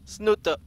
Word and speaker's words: Snute: the one and only it is sno sno there's one Norwegian fan out there who gets very very mad every single time did you say it like that I say snoot he's like okay you please stop saying snoot it's not you ever